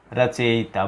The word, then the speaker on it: रचयिता: रचयिता।